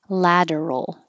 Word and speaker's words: lateral: don't know why bursts lateral think of ladder for lateral and rotation ladder splurge